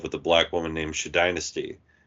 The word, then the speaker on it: Shadynasty: There's an episode where they explained that that Frank was once in love with a black woman named Shadynasty, which is spelled SHADYNASTY. Yeah. So it's shady nasty.